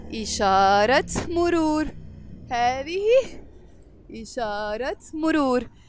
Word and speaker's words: إشارة مرور: And this T مربوطة, when it's followed by a noun, we pronounce it. So we will say إشارة مرور.